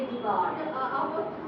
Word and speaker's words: jugaad: In Hindi we say jugaad.